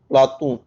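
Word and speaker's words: Πλάτων: प्लेटो शब्द का शुद्ध यूनानी उच्चारण होता है प्लातून।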